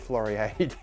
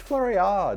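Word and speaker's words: Floriade: I called flurry Aid it's not floriated it's flurryard apparently I don't know how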